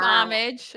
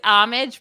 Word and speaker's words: Homage: It's Homage, but it's spelled Homage.